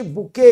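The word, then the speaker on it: bouquet: भी तमरो सब्जेक्ट होची बुके ही आ बुके आ बैंकेट भितरे डिफरेंस ए दिटा वर्ड एका संगे मन रखो बैंकेट रे टी रो प्रोनाउंसिएशन अछि बुके रे टी उडा सब साइलेंट तो से कहउची अ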